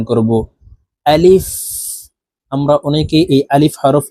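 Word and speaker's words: ألف: সঠিক উচ্চারণ হবে না আলিফের উচ্চারণ তাড়াতাড়ি করে পড়তে হবে আলিফ আলিফ লাম আলিফ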